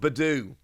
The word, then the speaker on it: Budew: be absolutely belight oh bedo sorry it's pronounced bedu there we go looks like it should be jew but it's not his bedu and the